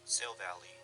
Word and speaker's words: Silvally: Silvally. Silvally? Okay. This is the pronunciation right here.